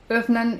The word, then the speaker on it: öffnen: Huruf O yang ada umlautnya ini dibacanya E. Here itu seperti bahasa Inggris, jadi here. Di sini. Öffnen itu open.